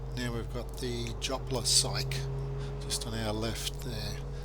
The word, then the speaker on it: Syke: Now we've got the Jopla Syke just on our left there. Syke, incidentally, is spelled S-I-K-E, not P-S-Y-C-H-E or anything like that.